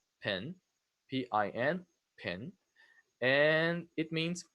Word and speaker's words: PIN: So this one, you pronounce it as a word, pin, P-I-N, pin, and it means personal identification number.